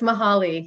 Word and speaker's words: Mahali: on pronunciation for years i've been saying your last name mahali but someone said i'm mispronouncing it so it's let me hear it from the owner please yes it's mahali yes for the record